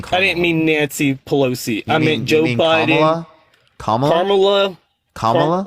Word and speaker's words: Pelosi: years I said both and should with Nancy palosa and the speaker of the house I can't remember her name you mean Nancy Pelos I mean I'm sorry again I just told